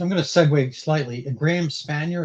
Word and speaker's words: Spanier: Graham Spanier, is that the right pronunciation? Yes. What happened to him?